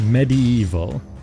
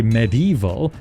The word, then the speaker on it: medieval: it surprises many, yes, I pronounce it medi-evil. I always get called out for this because some say medieval, but just so you know, there are multiple pronunciations for the word. Neither are wrong, language can be funny.